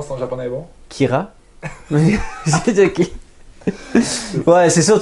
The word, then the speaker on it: Kira: C'est comme la dérivé de la prononciation de killer en japonais. Des fois, il prononce des mots anglais, mais à la japonaise.